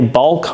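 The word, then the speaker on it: baulk: the term synchro ring it's also called a bulk ring b-a-u-l-k ring nissan uses that term i've heard synchronized ring i call them blocker rings so maybe block a ring was just somebody mispronouncing bulk ring i don't know but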